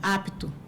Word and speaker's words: apto: uma uma vogal após, por exemplo, apto, então não posso falar ato, é apto mesmo, porque eu pronuncio, então não tem consoante muda, né?